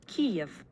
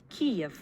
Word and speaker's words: Kyiv: But this is how she pronounces this version of the name. Kyiv.